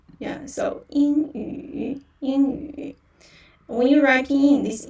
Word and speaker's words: 英语: Yeah, so 英语. Yeah, the character of 英语. And for the pinyin, yeah, so in actually here, Y is silent. and in, yeah, first tone, and also 鱼 yu,